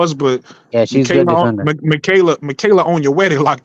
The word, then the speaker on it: Michaela: The first name is easy, Michaela. Even though it's spelled Michael A, but it's Michaela. Yeah, Michaela.